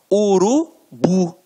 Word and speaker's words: urubu: exemplificação observem aqui ó oxítonas a última sílaba é a tônica então exemplos urubu motel marajá reparem que na hora da pronúncia de forma mais aguçada você vai perceber que realmente a pronúncia da última sílaba ficará mais forte aqui ó urubu motel